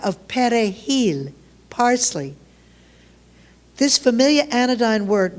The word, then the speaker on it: perejil: In Creole, the language of the Haitian peasant, R is pronounced like W, and there's no Spanish J, so it's pronounced hard against the back of the throat to give us perejil.